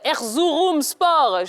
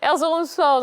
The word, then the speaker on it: Erzurumspor: Aujourd'hui, donc, vous êtes au club Erzurumspor. Je prononce bien, c'est bon? C'est ça. Erzurumspor, donc en Turquie.